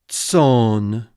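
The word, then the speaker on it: צֹאן: So you don't worry about the aleph at all in the pronunciation. It's just like ts, long o, and n. Tson.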